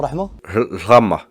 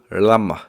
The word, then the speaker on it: Rahma: Tu dis comment, Rahma? Rama. Je sais toujours pas le dire, les frères, c'est affreux. Rama, c'est accepté. Prononce-le comme tu veux. Faut le dire comment? Vas-y. Rahma. Après, si t'arrives pas, tu peux dire Rama, y a pas de problème. Rama, c'est compréhensible aussi.